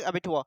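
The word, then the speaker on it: abattoir: अबेटूर अपने को तो सीधा लिखा हुआ है, अबेटूर लिखा हुआ है, अबेटुआ नहीं पढ़ रहे अपन, वैसे रियल प्रोनाउंसिएशन है अबेटुआ। ठीक है, इसको अबेटुआ नहीं, अबेटोर पढ़ ली, अबेटोर।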